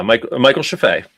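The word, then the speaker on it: Michael Scheffe: to talk literally about Michael Sheffey is the right way to pronounce that? Yeah, Michael Sheffey.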